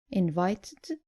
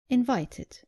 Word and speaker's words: invited: The less common mistake is not pronouncing the id clearly at the end of verbs ending in t or d. Just make sure you pronounce the e clearly.